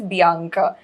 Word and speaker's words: Bianca: थोड़ा different है, call it like it sounds like Priyanka but it is Bianca. आज पूरा दिन से तो I've been calling her Banika only.